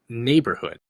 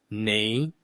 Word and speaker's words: neighborhood: Neighborhood. Neighborhood. Neighborhood. The gh is silent. I kept wanting to pronounce it like in the back of my throat because of how it's spelled, but it's just not there.